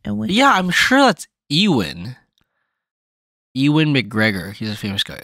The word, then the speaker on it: Ewan: or EU in or something like that um e-w-a-n so when she first wrote that I was like yeah I was like is that are you sure it's not Evan but like you know with the list versus